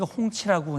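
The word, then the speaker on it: 红旗: 그런데 지금 중국 이번에 공개한 HQ209에 중국은 홍치라고 이제 발음을 하는데 홍치 29 같은 경우는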